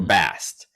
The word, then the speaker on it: Bastet: So, name-wise, originally in ancient Egyptian, her name was probably Ubast or Bast, without the extra syllable at the end.